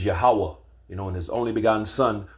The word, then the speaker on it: Yahweh: You got a lot of Israelite groups pronouncing his name wrong. Yahuwah, Ahaya. No, bro. The true biblical name is Yahweh.